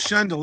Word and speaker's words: Schendel: And we have filmmaker, is it Schendel or Schendel? It's Schendel. It's the Minnesota pronunciation.